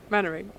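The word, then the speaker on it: Mainwaring: This is one that I only know how to pronounce it from, Right. from Dad's Army. Yes. Mannering. No, Mannering.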